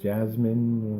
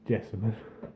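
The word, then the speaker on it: Jessamyn: yeah, I think is it technically pronounced Jasmine or it's just No, it's Jessamine.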